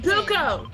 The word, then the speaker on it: Goku: I said Goku. G-O-K-U. It's not hard to pronounce.